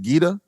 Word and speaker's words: Gita: But I just want to say that, man, this album from the start, so how do you say the first song? Is it Gita? Yes.